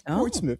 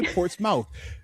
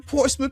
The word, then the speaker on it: Portsmouth: It's Portsouth. You pronounced it right. Most people say Portsmouth. I love the fact that you actually said it like how us native 757 Portsmith people speak it.